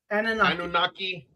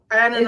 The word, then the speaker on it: Anunnaki: Okay, so our show tonight is on the Anunnaki. Did I say it right? Anunnaki, I would say so. Anunnaki.